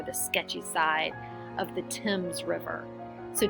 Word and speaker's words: Thames: bad side or the sketchy side of the Thames river so Tim's is spelled th a and E s so it